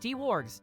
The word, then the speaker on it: Dwarg: Dwarg619 says, hey, my name is pronounced D-Wargs.